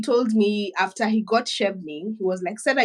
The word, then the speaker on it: Chevening: First of all, am I pronouncing it right? Is it Chevening or Chevening? Okay, it's Chevening.